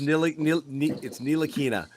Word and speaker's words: Ntilikina: Real quick, one trick for you, Sherrod, in pronouncing that name: try to unsee the T. Unsee the Ntilikina. It's just Ntilikina. Let's just get the T. Just pretend the T He's isn't French, there.